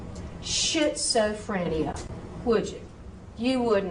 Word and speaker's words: schizophrenia: So SCH is a SK sound. So schizophrenia, schizophrenia. Z.